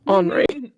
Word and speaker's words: Henri: There's a boy named Henri as well, and people were pronouncing it Henry, and I'm like, in the very beginning of the game, he tells you he's French. His name's Henri.